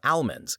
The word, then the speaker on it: almond: They say it to where it almost sounds like owl, so almond. But I say it like the name Al, so I say almond, with a more pronounced A.